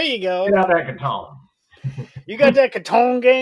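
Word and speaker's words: Catan: yeah that's awesome so how do you pronounce clouse toyer game the settlers of I say Katon am I right that's what I say so we're on the same page there what other pronunciations are there so Katen katton and Katan Katan okay yeah katan's the other big Contender I was from North Carolina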